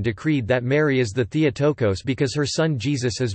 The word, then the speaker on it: Theotokos: Theotokos Greek, Theotokos Greek pronunciation, Theta Eotokos is a title of Mary, Mother of Jesus, used especially in Eastern Christianity.